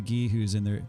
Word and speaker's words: Gi: Gi, like karate gi. Used to pronounce it G.I. as a G.I. Joe.